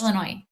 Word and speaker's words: Illinois: Friday enjoy Yeah, how do you how do you How do you guys pronounce it that direction? S is well, you try first Mandy. You try first. Illinois. Noy.